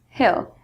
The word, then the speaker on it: he'll: rhymes with Bell and he'll is pronounced the same way as like a hill hill okay good so let's